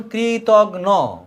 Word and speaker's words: কৃতঘ্ন: এইবার ঘয়নঘ্ন, ঘ যোগ দন্তন্য। কি উচ্চারণ? কৃতঘ্ন।